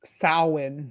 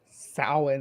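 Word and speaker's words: Samhain: and and you know fawin is how you pronounce it yeah but it's a Gaelic word so sowing is how you actually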